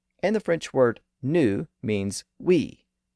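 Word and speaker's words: nous: it a new way with the letter combination OU so in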